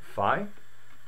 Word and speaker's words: Phi: with is Phi and the pronunciation many people think it's F and many people think it's fee I think The Da Vinci Code suggested that this was the explanation fee was the pronunciation rather now um I'm going to go with F because when we have